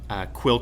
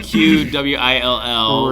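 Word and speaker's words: Qwill: Because it's spelled Q-W-I-L-L, right, with Will in there. Exactly. So we did Quill. Brilliant, dude. Some people, they're going Q-Will, and I'm like, no.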